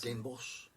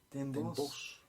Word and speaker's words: Den Bosch: Den Bosch. Den Bosch. It's spelled Den Bosch, but they don't say Bosch, they say Boss, just to piss off people, unlike every other word in Dutch.